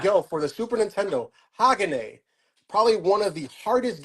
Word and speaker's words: Hagane: People say Hagan, but it's Japanese, so it's Hagane, I believe. Hagane?